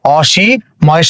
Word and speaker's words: অসীম: এর পরে দীর্ঘইকার আছে, কিন্তু দীর্ঘইকার থাকার পরেও এই অটা ও হবে না, তার কারণটা হচ্ছে এটা একটা নাবোধক শব্দ, তাহলে এই অ এর উচ্চারণ অ হবে অ, এখানে আছে দন্তস্য,